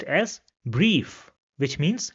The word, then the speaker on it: Brief: And this is pronounced as e in English. So the word over here where we have the word combination will be pronounced as brief which means letter.